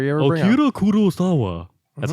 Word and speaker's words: Kurosawa: Akira Kurosawa. That's how you would say it. That's actually how you pronounce it.